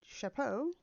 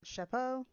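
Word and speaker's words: chapeau: folklore gets his red Chapo did I not pronounce it shapo c h a p e AU from dipping it in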